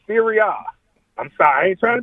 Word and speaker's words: Serie A: You said Series A. We pronounce it Serie A.